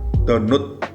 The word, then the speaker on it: Donut: Yang jelas ini mereknya Donut, bacanya donat, tapi mungkin aku beli di Synthesis Vape.